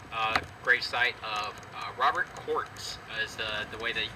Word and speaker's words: Kautz: one at the uh great site of Robert courtz is the the way that he's um the name is pronounced um so when it comes to raising